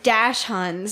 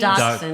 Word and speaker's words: Dachshund: dash huns, is that how you say it? Doxies? Dachshund, Dachshunds.